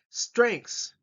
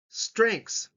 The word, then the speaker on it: strengths: Strengths. Strengths. That's a long word, but it's 1 syllable.